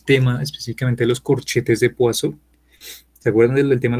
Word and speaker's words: Poisson: Porque realmente el personaje se llama, digamos, bueno, realmente se pronuncia Poisson. Son corchetes de Poisson que vienen directamente de la mecánica clásica, la mecánica teórica clásica.